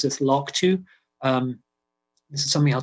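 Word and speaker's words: LRRK2: on a gene called llrk2 this is we pronounce this log2 um this is something i'll tell you a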